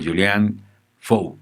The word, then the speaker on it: Julien Faure: al artista francés a este gran maestro como julian show así se pronuncia hacia el del rector flojo o bien